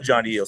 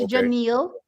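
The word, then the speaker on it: Jonielle: It's Janal. It's Janal. Yeah. Okay. It's It's similar to Noah Liz's wife's name. Pretty similar.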